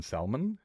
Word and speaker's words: salmon: You meant to say the L in salmon. Wait, do you don't say the L in salmon? Really? You probably don't even pronounce the knife in Kiffy, do you?